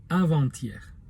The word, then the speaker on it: avant-hier: Avantier avec un trait d'union se prononce avanttier.